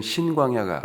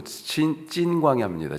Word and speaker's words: 찐광야: 조금 더 정확하게 발음하면 여기는 신광야가 아니고 찐광야입니다.